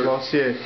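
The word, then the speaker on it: Losier: How do you pronounce your name? Lossier? Lossier, yeah. Lossier? L-O-S-I-E-R. Did I say it right? Yes, sir. Lossier.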